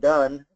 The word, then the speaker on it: do: how we pronounce it we pronounce do and done differently but we spell them